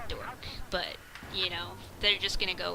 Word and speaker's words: DOKR: to be like, well, it's actually pronounced dork, but they're just gonna go with what they see immediately.